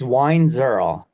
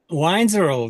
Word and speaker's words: Weinzierl: it for me first it's wine zurl wiin zurl very cool it's like it's like wine and then girl with a z so wi I